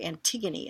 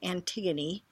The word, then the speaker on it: Antigone: the second week to Antigone it's a nti geo NE so it kind of looks like an tigon but it is pronounced Antigone it's a Greek play